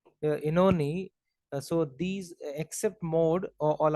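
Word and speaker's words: Oenone: So Tithonus, Ulysses, and Inoni. This is pronounced as Inoni. I checked in Google also. It's pronounced as Inoni. Inoni.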